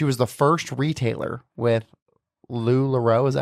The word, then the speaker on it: LuLaRoe: time, but she was the first retailer with LuLaRoe.